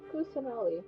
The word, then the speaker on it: Kusanali: Kusanali, that's how you pronounce And it.